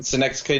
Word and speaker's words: Synecdoche: Like one of them is called, if I pronounce it correctly, Synecdoche, New York.